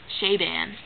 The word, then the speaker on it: Chabon: Michael Chabon, that's how you say his name.